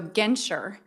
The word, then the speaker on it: Genter: the craziest last names so genter is my maiden name and it rhymes with venture remember that department store but it's spelled differently or like denture but also spelled differently and then of course